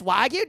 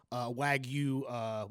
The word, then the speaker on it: wagyu: I kind of Like this wagyu doesn't melt in your mouth, but it's still fucking thick.